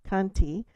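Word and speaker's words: khanti: Apparently the word shanti I think pr pronounced kanti has a much more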